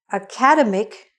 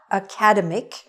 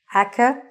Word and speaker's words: academic: It is not academic. It is academic. The stress is on the middle.